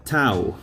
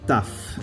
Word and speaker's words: tau: Now the letter tau, or taf, if you are pronouncing this in modern Greek.